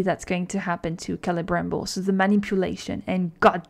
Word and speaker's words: Celebrimbor: But this season, the second season, is really about Celebrimbor, and I don't know how to pronounce that name. Celebrimbor. Yes, Celebrimbor.